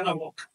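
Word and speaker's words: Anáhuac: No pronuncien anat, sino anat con la w casi consonante, pegando levemente los dientes superiores a la inferior, así como se pronuncia Ana Wok.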